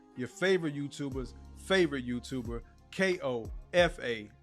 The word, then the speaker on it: Kofa: Once again, I am your humble host, Kofa, your favorite YouTuber's favorite YouTuber, K-O-F-A, not coffee, not Kufu, not Kofi, or any variation thereof. Kofa rhymes with sofa, easy to say, easy to spell.